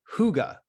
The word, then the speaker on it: hygge: It's called Hygge. It's spelled Hygge.